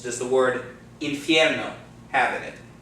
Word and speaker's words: infierno: How many syllables? 4. It's not 4, it's 3. The reason why it's 3 is because 2 of the vowels go together to form a diphthong, okay?